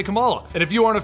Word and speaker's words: Kamala: Kamala KH is now an Avenger but she is